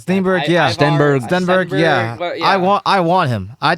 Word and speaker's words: Stenberg: Ivar Steenberg, is that how you pronounce his name, Hunter? Something like Steenberg, that. yeah. Stenberg, yeah.